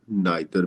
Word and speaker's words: neither: ये नीदर भी बोल सकते हैं आप, नाइदर भी बोल सकते हैं.